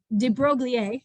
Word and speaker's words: de Broglie: Well, Louis de Broglie is how you say his last name, said,